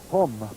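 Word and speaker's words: pomme: Pom.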